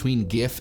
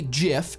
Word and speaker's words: GIF: If what we're saying is that GIF is correct because graphics is pronounced with a G, that's fine, as long as you're also gonna follow suit with other acronyms and pronounce scuba as scuba and laser as laser, which probably you're not.